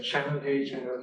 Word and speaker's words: Chanel: Pronunciation difference है, Chanel है.